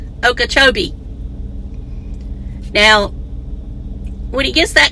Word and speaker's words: Okeechobee: He's in Okochot. I mean, in my mind, I say it right, but when I go out to say it, I don't say it right. Okeechobee.